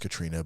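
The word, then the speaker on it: Caitríona: is played by um Katrina it's not spelled Katrina it's pronounced Katrina but it's it's pronounced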